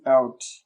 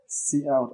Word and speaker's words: cout: Say std meaning standard, and then this word is please pronounce it as cout. Okay, cout as in the C language and then out.